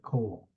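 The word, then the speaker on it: כל: of the same word coal and Co are two variations same word uh both are pronounced like coal the verb Ola is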